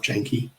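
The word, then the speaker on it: Janke: Now, Steve, is Yankee the right pronunciation? Or have I just stuffed it up along the way? It's correct for German, but we're in Australia, so I call myself Janky, or at least.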